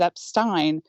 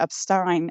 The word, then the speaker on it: Epstein: came out in which his PA not only tells a caller asking for his name that it's EP Stein but emphasizes Epstein again after the unobservant caller says Epstein this all in clear earshot of I don't think you mentioned how the caller says it wrong and gets corrected which I think adds considerable weight to upstein as the appropriate pronunciation I do agree that